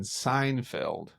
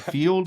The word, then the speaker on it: Seinfeld: a Hispanic, not too many Hispanics were watching Seinfeld. So, I don't think I say it right. Is it field?